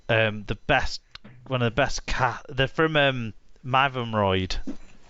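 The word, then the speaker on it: Mytholmroyd: They're from Mavumroyd. How do you pronounce it? Mivumroyd, which is another town on a canal actually. That's on the Rochdale Canal. I say Mavumroyd, yeah.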